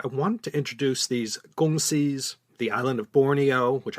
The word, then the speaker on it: kongsi: that's where the term gong see republic came about and it all took place in kalamantan barat western kalamantan and what's today the great republic of indonesia agongsi now this is the cantonese pronunciation the mandarin term kung